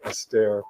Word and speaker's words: Esther: helpful oh people like esther perel a psychoanalyst who talks about relationships and talks about what makes relationships work she's wonderful if you don't know i think she's actually pronounces her name astaire perel p-e-r-e-l wonderful stuff